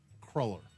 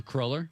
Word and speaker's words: cruller: Now, just just to I've always heard it pronounced crawler. A crawler?